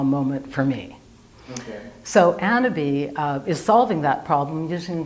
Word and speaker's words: AnnaBis: We pronounce it AnnaBis, which is AnnaBis. like the French for cannabis without the C.